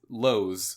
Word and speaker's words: Lowe's: For me, we were back at House, which is Lowe's. It's spelled the same way as the store Lowe's, like Home Depot Lowe's.